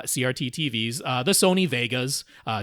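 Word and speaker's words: Wega: TVs uh the Sony Vegas uh wga but pronounced Vega um the Sony Vegas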